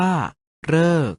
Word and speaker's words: ฤกษ์: ว่า ทฤษ ดี และ สรึ ออก เสียง ว่า เรอ ใน คำ ว่า ฤกษ์ ออก เสียง ว่า ฤกษ์ ดี มี ส่วน สละ